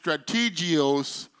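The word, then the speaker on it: στρατηγός: It's called strategy, but it's pronounced strategios in the Greek.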